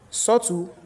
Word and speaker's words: subtle: So whenever the time we have letter B and T are put together B will be silent. So the examples doubt that subtle d I say I not say I do not pronounce B because B is followed by letter T.